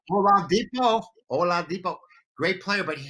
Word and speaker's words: Oladipo: Oh, how do we pronounce his name from Indiana? Victor Oladipo. Oladipo.